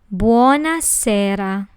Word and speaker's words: buonasera: Next, we have buonasera. This word has 4 syllables. Buo, na, se, ra. Remember the hard and rolling R in Italian? That's buonasera. Next, we have buonanotte.